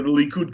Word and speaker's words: Likud: You said the Likud coalition.